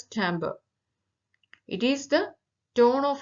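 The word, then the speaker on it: timbre: of tones then chamber spelling may be t i m b r e but it pronounced as Timber it is the tone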